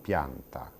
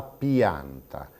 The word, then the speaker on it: pianta: Ragione per cui, per esempio, ci capita di sentire delle persone che dicono il vento ha sradicato la pianta, non pianta, come andrebbe pronunciato, ma la pianta.